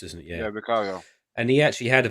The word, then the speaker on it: Vicario: Vicario, I think it's Vicario. pronounced, isn't it? Yeah, Vicario.